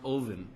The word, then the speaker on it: Odin: why because the god Odin which is actually pronounced oen has two birds on his shoulders that represent